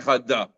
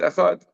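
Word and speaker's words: אחד: It's not a shva that you're supposed to pronounce. Quiet. Right? So for us, we have to be careful when we say echad, and we're not saying echad da. Right? It's echad.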